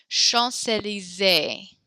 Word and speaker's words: Champs-Élysées: That's a very famous street in Paris called Champs-Élysées. Good. That accent on the end, on the E there, gives us that extra A syllable.